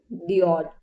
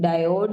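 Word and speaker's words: diode: आपका आंसर है light emitting डओड। क्या होता है? लाइट एमिटिंग डायोड या फिर डओड। ठीक है? आप इसको दोनों प्रोनाउंस कर सकते हो। बेसिकली वैसे इसको डायोड ही प्रोनाउंस करते हैं।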